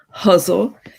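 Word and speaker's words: ghazal: a forum called a guzzle or as i heard marilyn hacker the poet pronounced it recently huzzle it's a was originally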